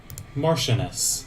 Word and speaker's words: marchioness: The Marchioness? Let me figure out how to spell that. I mean, say that. Marchioness.